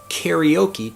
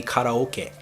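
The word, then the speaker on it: カラオケ: word karaoke before, but if I say karaoke to Japanese people, they have no idea what I'm saying. The correct pronunciation, I can't even say the word pronunciation properly, but the correct pronunciation of the word karaoke in Japanese would be karaoke.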